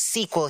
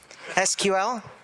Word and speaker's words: SQL: get a hands up who says squel here okay and can all the people who say it right put up their hands now SQL I'm kidding I'm teasing I'm more of an SQL person myself can I say both SQL squel SQL SQL is longer it is it just